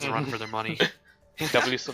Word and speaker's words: WSOL: WSOL. They sound like Soul Dynasty. The way we're pronouncing it. Soul.